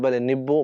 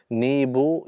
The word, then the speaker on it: नीबो: इसका नाम जबल नीबो या नीबो है। इसका उच्चारण "ईई" या "आई" के साथ किया जाता है। नीबो या नीबो।